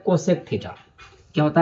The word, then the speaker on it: cosec: इसका नाम, और ये कोसेस नहीं, कोसेक।